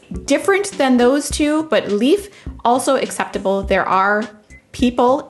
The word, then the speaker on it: Leif: plants his name is leaf and he's very cute i love plants so i appreciate that his name is leaf it's a little homonym moment and it's very cute